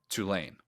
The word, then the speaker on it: Tulane: Tulane. Which one? I always say like two-lane highway, like a two-lane highway.